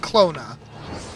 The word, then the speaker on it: Klonoa: It is pronounced Clona.